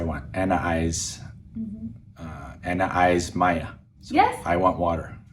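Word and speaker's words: ماية: Anna eyes Maya. So Yes. I want water. Anna eyes Maya. So that's another easy word. I don't think we've gone over that. Maya, like the Water. Spanish name Maya, means water.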